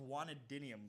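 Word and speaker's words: guanidinium: You said it wrong. Guanidia. It's called a guanadinium group.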